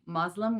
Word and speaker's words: Muslim: A Muslim is someone who follows the religion of Islam. A common mispronunciation is to say Muslim with a Z instead of Muslim with an S, and a common misnomer